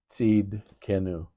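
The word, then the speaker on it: Tsidkenu: T S I D K E N U seed kenu.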